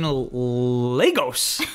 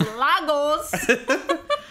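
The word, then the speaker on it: Lagos: in in in in Legos he says Legos but it's losos in Legos in losos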